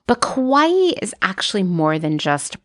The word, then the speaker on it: kawaii: the Japanese concept of kawaii now non-japanese people often pronounce it as Kawai but the true Japanese pronunciation is closer to our pronunciation of Hawaii so Kawaii I'm